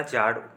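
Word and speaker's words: tsar: था ठीक है जाड़ स्पेलिंग उसका ऐसे होता था लेकिन नाम उसका जाड़ पढ़ते उच्चारण करते थे उसे करते थे जाड़ तो रूस के जाड़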